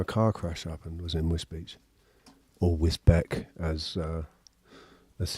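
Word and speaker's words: Wisbech: Whisbeck, which is actually pronounced Whiz Whizbe Beach.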